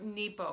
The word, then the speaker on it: Nepo: book of awakening by Mark Nebo it is pronounced Nebo I finally figured that out I was listening to a a video thing this morning by dr.